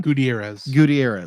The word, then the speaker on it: Gutierrez: Gutierrez. Thank you. I'm Gutierrez. assuming I'm pronouncing Gutierrez correctly.